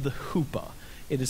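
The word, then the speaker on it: chuppah: and it's called the Hoopa it is spelled c h u p p Ah but it is pronounced Hoopa a hoopa is basically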